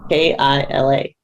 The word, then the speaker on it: Kila: How do you spell that? K-I-L-A.